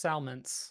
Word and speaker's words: Salmence: Is that how you pronounce it, by the way? Salmence? Yep, just Salmence.